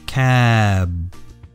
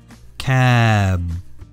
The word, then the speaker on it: cab: cab the B sound your voice stays for just a second longer cab cab listen again cap cap